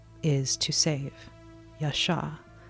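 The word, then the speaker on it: ישע: name is to save Yasha in Hebrew it's spelled yod Shin Yasha to save father sent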